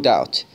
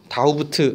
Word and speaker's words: doubt: There is no doubt. No doubt. 이거 no doubt이라고 하는 표현 자체가 중요해요. Doubt. 다우부트 아니고 doubt라고 읽힙니다.